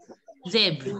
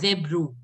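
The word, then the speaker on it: zèbre: Because most of you made the mistake, you people were pronouncing it as zebro. It is zebra only.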